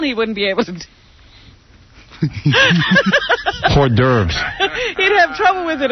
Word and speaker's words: hors d'oeuvres: That's hors d'oeuvres.